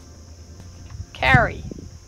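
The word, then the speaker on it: K'gari: Kagari.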